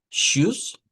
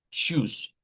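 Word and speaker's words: Tschüss: E pero también introducíamos algo otras cosas, vea como lo que es el shus en este caso es una vea una ch, una t contra una o una sh. Suena ch, decíamos shoes, que es como decir adiós, adiós.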